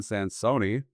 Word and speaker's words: Sansone: This was another episode of Roll Up and Roll Out with, and I'm sorry for mispronouncing your name at the start, John Sansone.